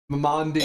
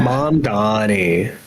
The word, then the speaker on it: Mamdani: Mamandi. Oh boy. My man. Mamdani.